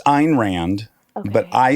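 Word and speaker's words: Ayn Rand: It's Einrand. Okay. But I say Anrand because I it sounds too pretentious to say Einrand.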